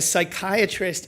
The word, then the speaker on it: psychiatrist: Why do you never know when a psychiatrist is using the bathroom? Anyone ever hear this one? This one made me laugh when I found it. Because the P is silent.